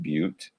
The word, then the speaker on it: but: If you look at BUT, it's pronounced butte.